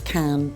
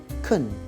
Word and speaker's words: can: Well, normally when we're speaking, we pronounce can weakly, kun. But if we're emphasizing can and stressing the word, we use the strong form, can.